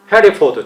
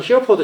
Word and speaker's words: Hereford: 해리포드, 저는 히어포드 자꾸 그랬는데 해리포드라고 읽더라고요.